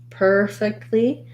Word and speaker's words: perfectly: look at your word so we have first syllable stress perfectly um hold your per syllable longer you want to start